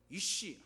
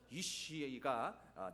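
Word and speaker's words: אִישׁ: 발음을 잘 하셔야 돼요. 이쉬 하면 욕이 되고요. 이쉬가 남자라고 한 말인데요.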